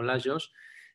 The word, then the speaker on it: Lajos: Me presento, soy Lajos. Es un nombre húngaro, se pronuncia en catalán y se escribe con J, o sea, digamos, en Hungría la J se pronuncia como en catalán, como Lajos, y significa Luis.